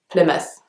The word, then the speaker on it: Plymouth: but actually it's pronounced Plymouth so the Y is pronounced like almost like an eye and then the second part of the word is just miss so Plymouth the next one is